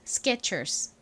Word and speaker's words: Skechers: 참고로 이 단어를 미국식으로 읽을 때 S의 뒤에 K가 왔죠. 이 경우 K는 된 소리가 나죠. 그래서 Skechers가 아니라 Skechers 이렇게 살짝 쌍기역 발음처럼 세게 발음이 납니다.